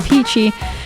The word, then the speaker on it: Peachy: It's your girl, Sara Peachy, rhymes with DIETSCHY.